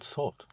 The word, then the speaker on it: sorte: Quelle sorte? Right. Quelle sorte? Sorte. Quelle sorte? Quelle sorte? Quelle sorte? Sorte is spelled S-O-R-T-E.